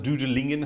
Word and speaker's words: Dudelingen: We're back in the organ of Luxembourg tonight, to Dudelange or Dudelange, Dudelingen, however you want to pronounce it, in the wonderful country of Luxembourg, which is a marvellous instrument.